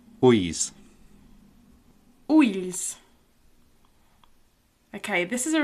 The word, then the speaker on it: ulls: It's like a more of an L-ish sound, the l and the y together.